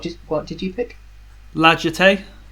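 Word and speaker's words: La Jetée: what did you pick lagete that was pronounced legetti legete yeah yeah it's not a hard g that's i wasn't using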